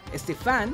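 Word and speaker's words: Stephan: Momento de reunión con la waifu Bianca, Stefan. ¡Así es como se pronuncia!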